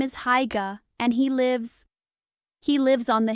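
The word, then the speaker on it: Haigha: His name is Haiga." He pronounced it so as to rhyme with mayor.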